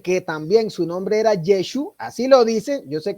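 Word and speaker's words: ישו: La Ain, que es muda, no se pronunciaba, entonces se le dice, si es que ese era su nombre, deberían realmente decirle Yeshu.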